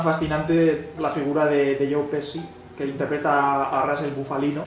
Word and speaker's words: Pesci: Pepsi no. Pepsi. Pesci. Es que sí, ¿cómo se pronuncia? Pesci.